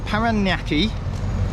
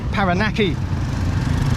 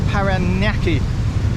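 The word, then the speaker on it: Parañaque: I've been pronouncing it paraki and it's not panaki it's felt panaki but it's got that squiggly thing going across the N um I don't know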